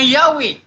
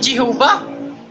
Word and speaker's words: Yahweh: Klaro kaya ging gi-pronounce nga Yahweh. Dili Jehovah.